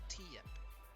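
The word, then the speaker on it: Tiyep: up how do you spell that um t-i-y-e-p pronounced t yep okay oh they're ready for the draft that's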